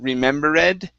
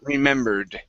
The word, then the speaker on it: remembered: with the ed ending you said remember red the word is remembered remember good all right